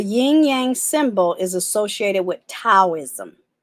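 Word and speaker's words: Taoism: symbol is associated with taism or some people pronounce it dosm based on your dialect I am a I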